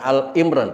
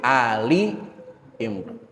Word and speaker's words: آل عمران: Dengan demikian surah ini dinamakan surah Ali Imran. Jadi bahasanya bukan Al-Imran ya. Bukan seperti Al-Fatihah, Al-Kausar, Al-Ankabut, Al-Ghasyiyah, bukan. Bukan Al-Imran tapi Ali Imran.